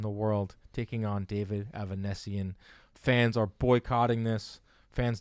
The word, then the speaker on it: Avanesyan: It's Avanesyan. Yes. I don't want to again. Avanesyan. David Avanesyan.